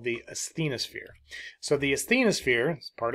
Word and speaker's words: asthenosphere: we have this layer called the asthenosphere the asthenosphere is how it's pronounced is part of the upper mantle so